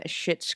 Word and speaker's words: Schitt's: it shouldn't be a it's spelled s c h i TT for those of you are saying I'm saying a bad word um I'm just kidding